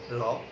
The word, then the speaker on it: র: উপরের দাঁতের সাথে আলতোভাবে টাচ করে র র বললে জিহ্বার অগ্রভাগটা উপরের দাঁতের কাছে থাকবে, সেখানে হালকা টাচ করে কিন্তু সে র উচ্চারণ করবে, র।